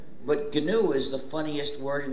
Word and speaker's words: GNU: the reason is because according to the dictionary the g is silent and it's pronounced new so anytime you were